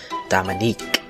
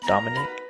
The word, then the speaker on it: Dominic: didn't realize it because she pronounced it Dominique no one else raised their hands so I figured it was me and raised mine right after I did I tried to say it's Dominic but I guess I